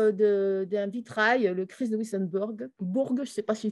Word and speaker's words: Wissembourg: Donc, c'était la mise aussi en valeur d'un vitrail, le Christ de Wissembourg. Je ne sais pas si je prononce correctement. Wissembourg, oui.